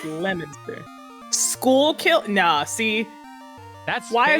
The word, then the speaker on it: Leominster: Yeah, Massachusetts Leominster. is a wild time. Which is pronounced Lemonster.